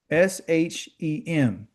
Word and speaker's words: Shem: S H E M okay?